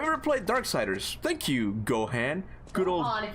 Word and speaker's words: Gohan: in English right but in this case it's Gohan so I can do